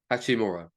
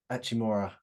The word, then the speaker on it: Hachimura: One of your, I mean, two of your boys, Vanderbilt and I won't even try and say Rui's second name, but Hachimura. Hachimura.